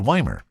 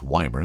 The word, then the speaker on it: Ymir: In fact, just a little south of Nelson, near a town called Weimar. Again, a cute little town if you've never been there. That's Ymir, and it's Weimar. That's how you say it.